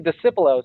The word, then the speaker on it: Discipulo: So it's actually Discipulo. So it's Discipulo. All right. Discipulo. So that you don't pronounce the C. It's not a hard C. Soft C.